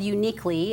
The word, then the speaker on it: Younique: website is unique nutrition but it's spelled uniquely it's y-o-u-n-i-q-u-e so put the word yo in front of unique and you've got it you need it and